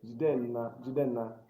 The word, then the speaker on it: Jidenna: So Nna, Jidenna. That's how people say it.